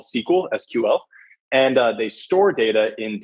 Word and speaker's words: SQL: And the language with which you query and sift through all that data is SQL, or it's pronounced SQL.